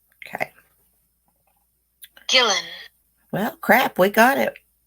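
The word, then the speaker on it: Guillén: how pronounced this Gillen okay chillin so you pronounce her name Vanessa Gillen okay chillin well crap we got it like what so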